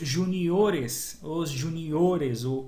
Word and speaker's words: juniores: Então aqui, por exemplo, em júnior, o júnior, a sílaba tônica está aqui no ju. E a hora que eu coloco no plural, os juniores, a sílaba tônica está aqui no o, mudou, houve um deslocamento da sílaba tônica.